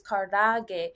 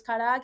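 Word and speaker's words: karaage: Okay, so I my favorite Japanese food right now is karage. So like I pronounce words with R like L because in Japanese there is no R sound.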